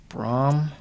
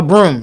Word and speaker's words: Braum: Uh, Braum. Yeah, Braum. That's his name. Uh, Broom. That's right. That's right. Broom. No. Yeah. Yeah. Yeah. Yeah. Yeah. Yeah. Pronounced Broom. Just like a a sweeping broom.